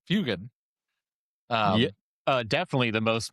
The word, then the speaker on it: Fuegan: Fugine, if you will. Yeah. Fugine. Did you Um, just call him Fugine? I call him Fugine often. Not Um, the most mispronounced way of saying Fugan.